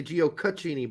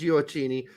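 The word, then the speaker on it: Gioacchini: me later I know I always want to say geocachini but it's not it's giocini went to MLS and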